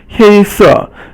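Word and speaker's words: 黑色: So 黑板黑色黑 is first tone and 色 is fourth tone.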